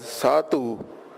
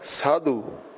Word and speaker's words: Sidhu: this as gondol Cardle Dada will give the sound of Tata and Dada as in Bandhan or Sidhu note that we are not pronouncing this as Sato but Sidhu Papa will give the